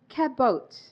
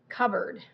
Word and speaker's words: cupboard: Certificate တခုကကျတော့ cabboard cupboard cabboard cupboard cboard you don't say the pe